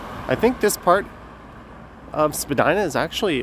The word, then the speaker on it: Spadina: All right, so we are making our way towards, I think this part of Spadina is actually officially pronounced Spadina, although no one says it that way.